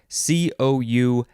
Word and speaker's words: coulomb: from charles a de coulombe i assume the coulomb is the better way to pronounce it so this has